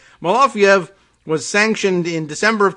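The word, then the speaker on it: Malofeyev: guess that's the reason they go with malafiev m-a-l-o-f-e-y-e-v as opposed to the other spelling m-a-l-o-f is it entices us to say malofiev as opposed to pronouncing both of the e's right so in order to get us to give it that extra syllable we put the y in there i think that's what's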